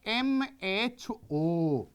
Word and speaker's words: mho: the reverse order so if ohm you will pronounce and make it in the reverse way that is equals to your the m h o that is your the